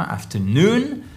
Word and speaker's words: afternoon: Ici, il tombe sur la fin afternoon.